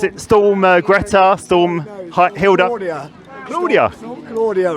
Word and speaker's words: Claudia: Because apparently it originated in Spain, and that's how they pronounce it over there.